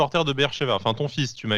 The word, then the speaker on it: Beersheva: Bon Eli, on va pas te mentir, nous Beersheva on connaît parce que, enfin déjà si on prononce bien Beersheva ou Beersheva.